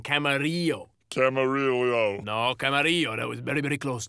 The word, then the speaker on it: Camarillo: I've never been there I think there's a Camarillo Outlets that's where I was no I know where you are talking about is that you are pronouncing it wrong Camaro Camaro no Camaro that was very very close though my friend